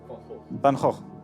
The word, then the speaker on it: Van Gogh: How do you pronounce it in Dutch? Van Gogh.